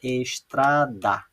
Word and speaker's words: estrada: sílabas, vejam aqui, ó, estrada. Observe que quando eu falo a palavra, aquela que eu falo com mais intensidade, com mais força, é o tra.